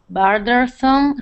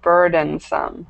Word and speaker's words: burdensome: college or took out bersome studs as rare opportunity to gloat. Okay, great. Um great pronunciation. Just this word right here should be burdensome.